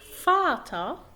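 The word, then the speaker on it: Vater: فاتا، فاتا يعني الأب.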